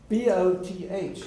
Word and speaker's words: both: this is an exception b o t h is both but the regular pronunciation is Moth as in moth Mo sloth right so OT is O but you say o both Etc so in order